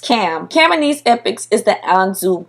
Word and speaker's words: Ham: but so is ham whose name is actually pronounced cam camones epics is the anzu bird meaning cam